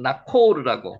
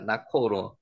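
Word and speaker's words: Ναχώρ: 한번 나코르라고 기록되 있습니다. 나코르 헬어로는 나코르라고 이렇게 됩니다.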